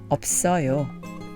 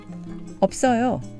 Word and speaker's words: 없어요: So we have 없, 요, which is pronounced 없어요, 없어요, 없어요.